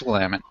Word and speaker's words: Willamette: Willamette, There's a way yes, to pronounce that, and it's Willamette.